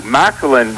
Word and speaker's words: Micahlan: You know, Micahlan rhymes with violin.